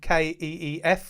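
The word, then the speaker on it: Keef: the Keith Hartley band he spelled his name k-e-e-f like Keith as in the East End pronunciation of London and sort of Keith um so he got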